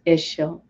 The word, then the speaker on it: Ixchel: Ixchel, pronounced Ixchel, was worshipped by the Maya of the Yucatan Peninsula of Cozumel, her sacred island, the moon and snake goddess.